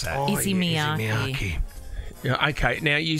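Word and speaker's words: Issey Miyake: It's more easy. Take it easy. That's why I'm easy. Take Miyaki. It easy, Miyaki.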